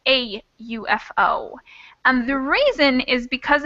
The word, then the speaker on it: UFO: ufo we say a ufo and the reason is because of the way we pronounce that letter u it kind of starts with the y sound not really a vowel sound so it's kind of